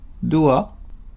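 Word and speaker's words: ドア: On utilise aussi en japonais le mot anglais d'or prononcé doa pour désigner une porte.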